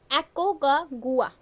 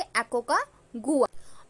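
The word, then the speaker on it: Aconcagua: है हमारी that is एकको का गुआ इसको एक्चुअली ऐसे ही प्रोनाउंस करेंगे एकको का गुआ और यह हमारा अर्जेंटीना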